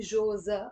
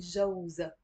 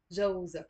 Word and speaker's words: جوزها: So you see, on its own, I'm not really saying Jauz. I'm saying more Jose. Of course, Jauz is 100% correct too, and maybe it depends on the pronunciation in different areas. So Jose means husband, but when I'm saying her husband, I'm not saying Joza. I'm saying Jauza. Jauza.